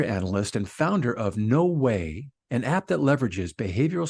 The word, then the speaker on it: Weigh: and her no way and when I say way that's pronounced way but it's spelled Wei G Val I want